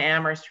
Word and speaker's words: Amherst: proposal that people in Amherst really like to discuss. The H is the only thing that is silent.